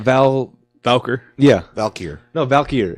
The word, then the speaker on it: Valkyr: Valkyr yeah Valkyr no Valkyr it's okay because this should mean it should be pronounced more like Valkyrie it was like Valkyr